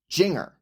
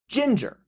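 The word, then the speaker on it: Jinjer: In fact, the name looked odd enough to me that I initially pronounced it Jinger. That's not how it's pronounced. It is pronounced Ginger, spelled with two J's instead of two G's.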